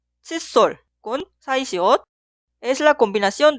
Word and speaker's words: 칫솔: Escribimos como la opción B, 칫솔 con 사이시옷. Es la combinación de 한자어 y 고유어, y cuando pronunciamos la palabra posterior sol suena en el sonido forzado sol.